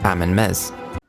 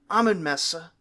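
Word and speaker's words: Amenmesse: So the exact pronunciation of this guy's name is open to a little bit of flexibility because we do see it in a couple different ways. But I've been going Amen-Mesa because that's sort of an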